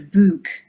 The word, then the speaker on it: book: Like you on Twitter will often say, talk about your book, B-U-K-E, which I hear, you know, the Dublin pronunciation.